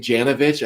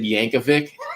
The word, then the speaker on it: Janovich: That's my team, and I was like, Yeah, and then they brought in the fullback, and instead of saying Janovich, I said Yankovic.